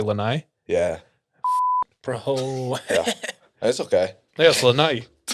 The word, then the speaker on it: Lanai: you pronounce it yeah and then all the white people say lanai yeah that's okay yes